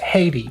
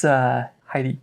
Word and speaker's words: Heidi: Because in Spanish it's pronounced Haiti. Haiti. But I mean, gotcha. In English. Oh yes, it's like oh my gosh, it's Heidi.